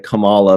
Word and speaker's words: Kamala: And also, we all keep saying Kamala instead of Kamala because we've been kind of conditioned to say Kamala.